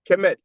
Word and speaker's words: Kemet: So indeed, to answer your question, when you have the I6 glyph, the loaf of bread, that's phonetically pronounced Kemet.